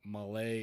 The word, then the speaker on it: Malé: It needed on the E. Malay is how it's pronounced.